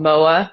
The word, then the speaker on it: MØAA: introduce yourself yeah sure the project is called moa that's how it's pronounced um it's like an abstract name not